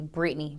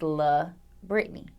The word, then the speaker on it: La'Britney: me the most when people just call me Britney because literally Britney is not my name my name is la Britney now as far as